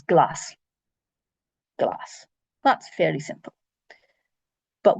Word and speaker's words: glas: So the S with a broad vowel, A, O, U, is just a normal S, like you know in English. So this word here is glass.